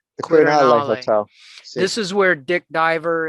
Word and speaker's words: Quirinale: And tell me again how you pronounce the name of it. The Quirinale. The Quirinale Hotel.